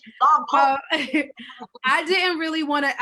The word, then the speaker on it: Lompoc: It's Lompoc. It was literally Lompoc.